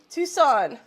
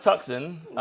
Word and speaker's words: Tucson: a good night brother Tucson okay he so it's not tuxen so glad I'm so